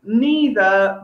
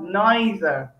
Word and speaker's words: neither: So that's one of the words that we disagree about how to pronounce, but there are others like neither, neither. Is it neither? Is it neither? We can say both.